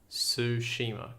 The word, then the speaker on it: Tsushima: You know, they've got, what is it, Ghost of Tsushima, which is, I can't pronounce that, Ghosts of Tsushima.